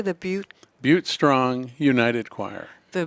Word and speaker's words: Butte: with the Butte I'm saying it correctly the beaut beaut strong United choir the Butte strong United